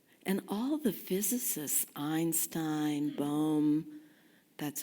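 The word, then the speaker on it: Bohm: of different ways and all the physicists Einstein bom that's how you say his name I never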